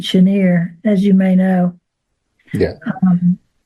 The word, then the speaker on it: Chenier: We heard Clifton Chenier, and but even though he's Cajun, he does pronounce it Chenier, as you may know.